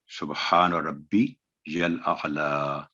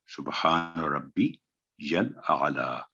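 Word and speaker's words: سبحان ربي الأعلى: آگے یہ بھی سبحان ربی الاعلیٰ، سبحان ربی الاعلیٰ، تو ایسے نہیں بلکہ یہ صحیح تلفظ ہوگا سبحان ربی الاعلیٰ، سبحان ربی الاعلیٰ. آئین کی ادائیگی ہو، آئین پر جزم ہے، ربی یل پر بھی آواز لمبی نہ ہو، اور لام پر کھڑی زبر ہے، 2 سیکنڈ آواز لمبی کریں گے.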